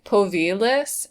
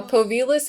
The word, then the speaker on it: Povilas: I think it's pronounced Povilas, and if I'm not very much mistaken, it is the Lithuanian form of Paul, which is cute.